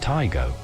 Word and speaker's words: Taigo: it was first launched taigo is pronounced taigo there's nothing too surprising